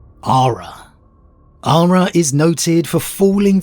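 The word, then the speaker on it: Arhra: At least that's how I pronounce it. A-R-H-R-A. Ara.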